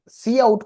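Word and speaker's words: cout: सी आउट को ना pronounce भी करा जाता है। सी आउट।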